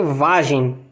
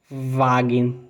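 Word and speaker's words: Wagen: é carro em alemão Note que o g ele não é que se pronuncia vagem como no português o g do Alemão ele se pronuncia Wagner Wagner Wagner é um g não é um g com som de J Quando é que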